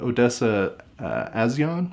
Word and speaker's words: Odessa A'zion: It was directed by David Bruckner and stars a cast of fairly new actors, including Odessa A'zion, I believe is how you pronounce it, as the main actress,